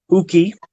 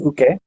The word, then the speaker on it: uke: But they had some weird pronunciation things like uki instead of uke. Mm-hmm. Jidan instead of geran. Jidan? Jidan. Like, oh, interesting. Yep, totally wrong for Japanese.